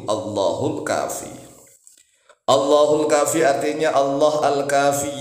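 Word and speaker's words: الله الكافي: Jadi kalau dibaca diputus-putus, Allahu al-kafi, alnya dibaca. Kalau dibaca diputus-putus. Tetapi kalau bacanya langsung Allahul, langsung begitu, Allahul kafi.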